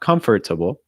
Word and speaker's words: comfortable: just like comfortable comfortable a lot of students when doing this they struggle they don't even notice that they're pronouncing it as like comfortable but it's not comfortable it's comfortable comfortable so really make sure that